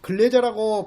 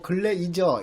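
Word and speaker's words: Glaser: 자, 그래서 이 글래저의 차별적 동일시 이론, 글래저라고 발음하기도 하고 글레이저 이렇게 발음하기도 하죠.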